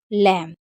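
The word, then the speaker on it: lamb: तो देखिए अगर कभी भी आपको एम और बी साथ में दिखे तो हमेशा आपको बी को साइलेंट रखना है। जैसे बॉम, टॉम, कॉम और लैम। एम और बी साथ में होगा तो क्या पढ़ेंगे, हम बी को नहीं पढ़ेंगे।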